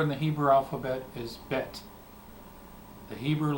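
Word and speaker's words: בית: the Hebrew letter bet the Hebrew letter bet has the sound B just like the letter B in English B the Hebrew letter bet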